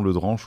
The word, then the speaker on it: Le Drenche: illustre un peu ça le nom le dranche ou le drench d'ailleurs on prononce comme on veut c'est le début du